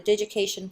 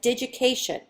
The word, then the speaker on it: Digication: UB has recently adopted the Digication platform. This is pronounced as Digication, similar to the word education, but instead you start out with digit, as in the word digital.